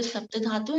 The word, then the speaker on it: saptadhatu: So today topic is saptadhatu. I'll write it down for you. So it's a SAPP is T. Sapt dha DHATU. Okay, saptadhatu. Saptadhatu. The pronunciation is sapt and dhatu.